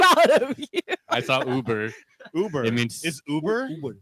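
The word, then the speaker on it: über: I saw Uber. Uber. It means is Uber. Is that Uber? It's a Yeah, if you put the two dots on top, it means over like above over something.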